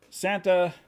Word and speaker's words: Sangre: But it is Sangre. Is that the right how you pronounce it?